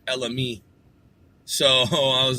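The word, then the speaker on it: Ella Mai: with my review of Ella me her name looks like it should be spelled Ella my she was on The Breakfast Club I heard it being pronounced Ella me I heard multiple individuals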